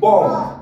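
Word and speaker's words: bomb: বি ও এন বি বম বম ঠিক আছে কেউ লাস্টে বি এর উচ্চারণ করবে না বম ঠিক আছে সেইম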